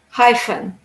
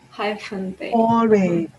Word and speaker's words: hyphen: wanted to remember this the letters ph is pronounced like an f hyphen yes hyphen ph pronounced like an